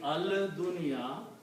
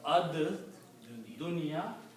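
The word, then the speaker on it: الدنيا: So instead of saying al dunya, you pronounce ad dunya.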